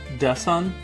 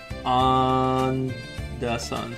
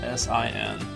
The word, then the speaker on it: Undesen: It's pronounced Desan. On Desan. How did I have it? Yeah, I have it written down as Dessin. So it's on Desan.